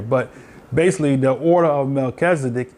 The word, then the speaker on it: Melchizedek: But basically, the order of Melchizedek, or Malak Sadak, is how you say it in the Hebrew tongue, was the original call